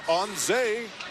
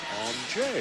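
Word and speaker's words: Anže: As in on Zay Kopitar. Turns out it's on J.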